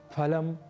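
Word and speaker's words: फलम्: तो हम फल को जैसे हिंदी में फल कह दिया करते हैं उसी तरीके से यदि हम फलम अस्थ ऐसा कहे तो संस्कृत में यह अशुद्ध उच्चारण होगा तो हमें अशुद्ध उच्चारण नहीं करना है और हमें शुद्ध उच्चारण करना है फलम फले फलानी ही कहना है फलम फले फलानी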